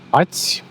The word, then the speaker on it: ați: Romanian, bine ați venit, ați is one syllable, having its nucleus in a. And the last sound is ți. The last sound is not e. It is written with 3 letters, but there are two sounds there.